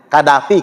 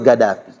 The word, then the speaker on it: Gaddafi: Makanya mereka itu huruf Qaf dibacanya G kalau mereka itu. Logatnya Gaddafi kalau kita nyebutnya kan.